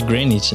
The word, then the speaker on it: Granit: trabalhou na granite Services ou granit eu não sei como é que se pronuncia é granit né granit OK beleza Hoje é atual